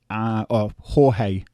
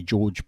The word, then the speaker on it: Jorge: And so finally we get to the main event, Colby Covington versus Jorge. I say George, but it's the proper way to say it is Jorge Masvidal.